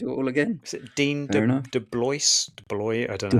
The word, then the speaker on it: DeBlois: Is it Dean DeBlois? I don't know how you pronounce it. DeBlois.